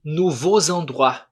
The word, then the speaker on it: nouveaux endroits: Percebam que eu falei nouveaux endroits. Nouveaux endroits. Eu faço essa ligação aqui. Eu pronuncio essa letra.